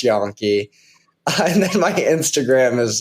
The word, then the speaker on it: Yonke: y n ke it's pronounced yon and then my Instagram